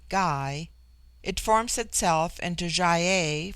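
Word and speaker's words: gy: the singular with man the word for woman is ghee pronounced hard as in gai it forms itself into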